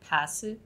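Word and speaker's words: パス: Passu? Yeah. That's correct. It's pass. Wait, what's the difference then? So pass is pass and bus is bus. So it's P and B. So it's passu and basu.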